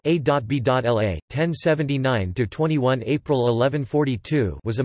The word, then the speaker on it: Abélard: Peter Abelard, Latin, Petrus Abelardus or Abelardus, French, Pierre Abelard, pronounced A.B.L.A., 1079-21 April 1142, was a medieval French scholastic philosopher, theologian, and preeminent logician.